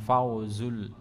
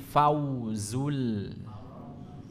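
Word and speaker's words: الْفَوْزُ: tahtihal Anhar ikalulir bukan Fau tapi Fau bukan dalalikal Fauzul bukan Fauzul tapi Fauzul Iya ulangi dzalikal Fauzul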